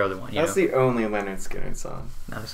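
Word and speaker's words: Lynyrd Skynyrd: of all time and that's uh pronounced leonard skynyrd by leonard skinner their first album which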